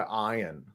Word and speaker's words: Ian: Yeah, That it's sounds spelled like a movie Ian, like star IAN. Yeah. But he goes by Iron.